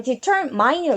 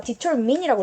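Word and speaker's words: determine: 내포하다 함축하다 암시하다예요 그다음에 터이라 읽지마 디터민이라고 읽어야 되고요 결정하다 결심하다입니다 옆으로 가서 왜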